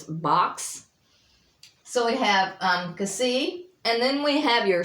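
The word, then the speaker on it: xi: And then we have Kasi, which is kind of a KS or an X, like it as in box, BOX.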